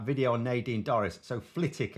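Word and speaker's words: Flitwick: on Nadine Doris so flitic apparently it's pronounced without the w I actually had one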